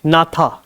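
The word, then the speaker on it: gnatha: क्या कहा जाता है नाथा जी साइलेंट है इसमें क्या कहते हैं नाथा दिस इज कॉल्ड दी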